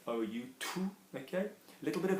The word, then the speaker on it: tout: Tout. Remember, we're pronouncing this with an OU, so the monkey mouth. OU, tout. Okay. A little bit of air coming up. Tout. Okay. It's not tu, which is obviously you.